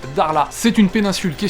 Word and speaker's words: Dakhla: est à dar là ça s'écrit dakhla des acca h elle a ça se prononce darlas c'est une péninsule qui